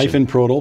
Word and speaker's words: Ifenprodil: And I'm sure I screwed up that pronunciation. Ifenprodil, but you were close.